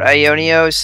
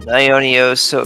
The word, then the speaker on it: Aiwnios: again the the um the W is actually like an o sound in Greek eternity in ancient Greek